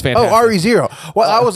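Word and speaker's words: Re:Zero: with it doesn't matter why would you pronounce re as ray cause i just did because of solfege no it didn't read okay re-zero it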